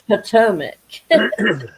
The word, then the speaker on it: Potomac: I said, well, according to the fishing shows, it's Potomac.